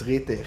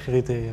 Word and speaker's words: RIITIIR: I pronounce it as RIITIIR. RIITIIR, me too.